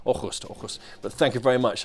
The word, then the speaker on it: Aarhus: But joining me live from Aarhus in Denmark to help with this, expert Jonathan Lowe.